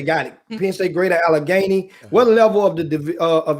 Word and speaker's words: Allegheny: I need you to pronounce it one more time. How do I say it again? Greater Allegheny. Allegheny. Okay, got it. Penn State, Greater Allegheny.